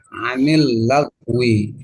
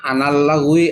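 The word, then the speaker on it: عن اللغو: Kita ikuti harokat yang sudah masyhur, yang sudah dipastikan, yaitu kasroh, anil lagwi, nah, gitu. Jangan kita berubah pada patah, anal lagwi atau anul lagwi, jangan. Jadi tetap dibacanya anil lagwi, ya.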